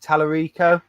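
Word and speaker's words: Tallarico: the amigo is he um i want to pronounce his name wrote tommy talarico yeah that's it yep um he's really putting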